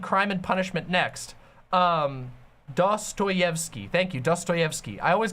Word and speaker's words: Dostoyevsky: I'm gonna read Crime and Punishment next um dos toyevsky thank you Dostoyevsky I always get his name wrong pathologic 2 is 60 off on Steam